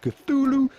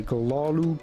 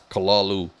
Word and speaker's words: Cthulhu: that word essentially most people say it either cthulhu or cthulhu there is a great complete video explaining precisely why none of these pronunciations are ones that offer hp lovecraft himself